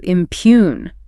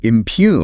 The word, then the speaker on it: impugn: Our next verb is to impugn. To impugn. Impugn. Stress on the second syllable.